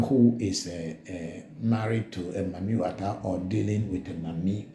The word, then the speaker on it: Mami Wata: some parts of Nigeria, where people pronounce the word water, Wata. So when you get the word Mami plus Wata, then you get Mami Water or Mami Wata.